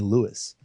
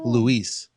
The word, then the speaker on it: Louis: spelled the same but I hate when people call me Lewis I'm Louis oh and I don't